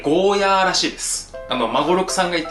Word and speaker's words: ゴーヤー: It's not Goya. You have to pronounce it like Goh-yah.